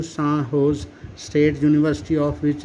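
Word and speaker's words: San Jose: यूएस में recently the सैन जोस pronounced सान होज state university of which they were farmer students honoured them एंड installed there statue in the university campus.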